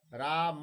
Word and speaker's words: राम: राम में अंत में अ है। म देर तक अगर बोले उच्चारण करें राम, तो अ अंत में सुनाई दे रहा। अ उसका स्वर है।